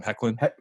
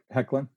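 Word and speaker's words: Hoechlin: What I was not prepared for was Tyler, give me the pronunciation one more time. Hecklin? Hecklin.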